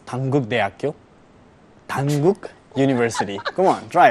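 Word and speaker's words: 단국대학교: It's Dankuk University, which you call it in Korean is Dankuk Daeakyo.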